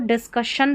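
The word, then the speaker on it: discussion: जैसे यहां पर देखिए double S आई ओ एन है। है ना यहां लास्ट में तो इसको डिस्कशन पढ़ा जा रहा है।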